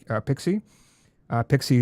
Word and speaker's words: PKCE: connect uh in relation to that and uh Pixie and how the stuff kind of fits together?